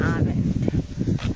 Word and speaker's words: almond: So talisay is like the Philippine or Indian almond. Almond with a silent L.